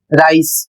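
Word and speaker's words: rice: इसे पढ़ेंगे राइस।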